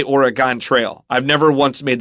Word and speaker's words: Oregon: fact there's a an old Mac game called origon Trail and they call it that oron trail